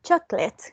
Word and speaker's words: chocolate: mean half sorry two how many syllables two that's correct it is divided into two syllables choc and lit now can you remember